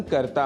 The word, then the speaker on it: करोति: सह ध्यानम करोति सः ध्यानम करोति यहां करोति इस पद का उच्चारण करते समय हमें ध्यान रखना है कि करोति के त में जो ह्रस्व ई है उसको दीर्घ नहीं करना है।